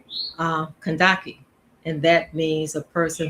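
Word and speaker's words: Kandake: Some people call it um, Kandaki or Candaces, which was in the Bible. I like my spirit, my soul, my divine self is tells me to pronounce Kandaki.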